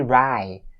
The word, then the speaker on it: right: Once again, any Vietnamese audience that is watching this video right now, don't say right. Say right. Okay? Right. Make the T stopped.